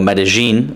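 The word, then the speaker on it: Medellín: However, in places like Medellin or Medellin is how you pronounce it, it's not going to be the case when it comes to the actual nines and tens.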